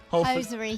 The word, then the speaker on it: Hosiery: Let me see if I'm pronouncing that right. Hosiery.